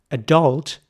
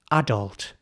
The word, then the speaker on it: adult: the middle adult and the focus of the the pronunciation is really the first part of the word so it's not adult that would be the American way it's adult so in British English this word is in fact pronounced adult now and I want